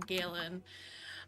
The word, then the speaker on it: Galen: I you know I've seen Tik Toks so it's probably that um Galen and it rhymes with Nolan Galen.